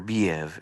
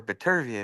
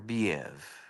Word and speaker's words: Bivol: I really like uh better beev and I learned that that's the correct pronunciation because I talked to uh Thomas Shriver who does all the rehab season cards over there and I asked him I said is it better better be or betv he was no they told me he prefers better beev I said okay good